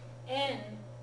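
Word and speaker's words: 円: En is the pronunciation of this, okay? I understand that. The yen pronunciation is Western mispronunciation, basically.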